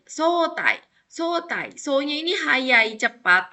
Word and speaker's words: 早退: Ini juga karena ketemu sama kanji ya. Dibacanya tai, sotai.